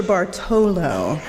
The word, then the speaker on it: Bartolo: name and he refused it's pronounced and sure Bartolo I even tried to